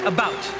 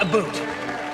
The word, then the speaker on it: about: school still regularly post on Facebook and I pronounce it about not a boot I can proudly sew my country's flag and